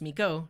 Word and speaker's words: Miko: Oh, my name is pronounced Miko, not Miku, sorry.